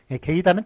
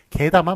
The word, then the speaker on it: 게다: 게이다는 틀린 표현입니다. 게다만 맞습니다.